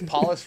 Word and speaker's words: Paulus: so paulus art says paulus rhymes with Lawless by the way I know the spelling looks French or something and then uh he